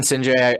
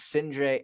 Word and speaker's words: Sindre: Well, listen, Sindre, I appreciate so much you being on the show.